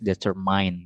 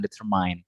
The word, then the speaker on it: determine: Nah, menurut expert di situ dari IP phonetic simbolnya di situ dia mengatakan bahwasanya bacanya bukan determine, bacanya adalah determine ya, determine bukan determine ya, determine, man bukan mind.